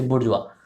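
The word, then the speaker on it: bourgeois: आर जी ए आई एस इस तरीके से बुर् जवा एक है प्रोलिटेरिएट मैं हिंदी में लिख रहा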